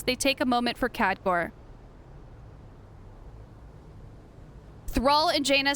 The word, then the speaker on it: Khadgar: What if Khadgar is just taken prisoner? Yeah, that was the right way to pronounce it.